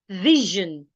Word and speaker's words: vision: it will sound Mission if you have a vow sound before s i o n it will sound Vision so mission and vision